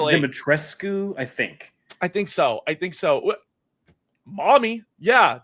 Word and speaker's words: Dimitrescu: We got Kaylin here saying Lady Demetriou. I can never pronounce it properly. She's from. I want to say it's Dimitrescu.